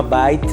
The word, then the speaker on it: Bite: Se llama Byte, en español se escribe Bite, B-I-T-E.